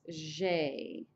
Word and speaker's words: j'ai: Okay, so for first person singular, to say I have is j'ai. J apostrophe AI. J'ai. J'ai. It's just like a blue jay bird almost, except for the J is a little softer.